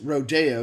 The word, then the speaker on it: Rodeo: It's pronounced Rodeo because he wrote it when he was in France.